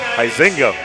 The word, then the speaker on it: Heisinga: Don't get to the Waupun pronunciation with Heisinga. It's Heisinga over at Oshkosh Lourdes High School.